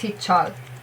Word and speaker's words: Heechul: And you have his second syllable, chol. It's not chul, it's not Heechul, definitely not Heechul, it's Heechul.